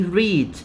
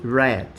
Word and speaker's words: read: is the same no the pronunciation is different in the simple present or present simple you say read simple past or past simple you say red so here i'm expressing